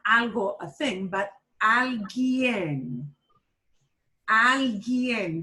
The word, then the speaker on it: alguien: Not algo, a thing, but alguien. Alguien. That U is not pronounced.